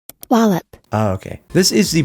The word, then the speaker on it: Wallop: party wup right now how is that actually pronounced wallup oh okay this is the party wallup a